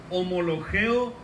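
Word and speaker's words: ὁμολογέω: si confieso qué es una palabra griega que se pronuncia homologue o confieso o confesar significa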